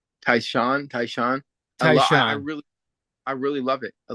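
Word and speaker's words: Tai Shan: Taisu, Taishan. Taishan.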